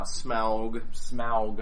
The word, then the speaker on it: Smaug: yeah, Smaug, how they pronounce it in the movie.